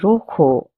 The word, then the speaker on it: rojo: The J's pronunciation will be C, a soft C. That's why we say Rojo and no rojo.